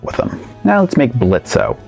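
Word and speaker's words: Blitzø: them now let's make blitzo oh is silent now treadmarks come in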